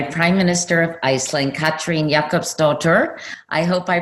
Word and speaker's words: Jakobsdóttir: your last name means and how you would pronounce it well my last name is Jakob stuffed it and it means daughter of Jakob because in